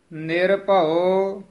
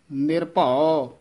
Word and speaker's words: निर्भउ: इस तरह दो दो पद उच्चारण करने हैं। निर्भउ निर्वैर, ये भी निर्भउ वक्रे वक्रे नहीं बोलने पद, ये पद इकट्ठा ही बोलना है, निर्भउ निर्वैर।